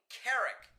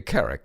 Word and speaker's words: Couric: It sounds, Morgan, a bit like you're saying Carrick. Uh-huh. Well, I am. That's how it's pronounced, I believe. Really? Well, because I think... If memory serves. Couric. Katie Couric.